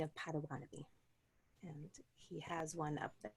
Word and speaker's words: Bodéwadmi: There's been a movement toward pronouncing it Potawatomi, which is closer to what it would actually be in the language.